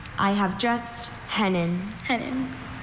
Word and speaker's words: hennin: Are there any alter pronunciations? I have just hennen.